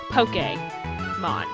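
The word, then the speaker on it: Pokémon: above the E and Pokemon makes the e a short a so poke game on it's part of the reason why my username is poke p-o-k-a-y reviews because uh news flash that's how you pronounce it poke come on oh and welcome to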